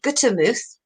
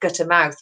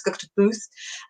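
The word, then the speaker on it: Gutermuth: Small Talk, and this week's guest is Ashley Guttermuth, and that's how you pronounce the name because it's only George. I know I messed it up when I was doing your quarantine comedy show. I've said Guttermouth, but it's not.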